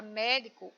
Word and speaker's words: médico: Na palavra médico, o mé é a sílaba tônica, portanto, a sílaba mais forte, tá bom?